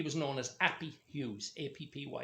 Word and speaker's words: Appy: A-P-P-Y is the pronunciation of it.